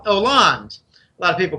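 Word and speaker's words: François Hollande: show Merkel and H Oland a lot of people call them it's silent h in French it's franois land but I'm told that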